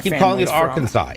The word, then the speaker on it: Arkansas: Arkansas. It's Arkansas. Arkansas. It's literally how it's spelled. There's no way that you can make SAS equal saw.